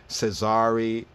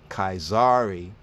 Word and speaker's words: Caesar: as we see it and we'll say um cesari right some might even say cesare that depends on Latin or whether we're speaking Italian but here kaizari in the ancient Latin this will be pronounced more as kazari kaizari Augusto kaizary Augusto what's on top and